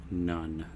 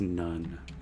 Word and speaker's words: Gnone: 29 game Army of none the G and The Gnome is silent and it is pronounced like Army of one only it's none get it all right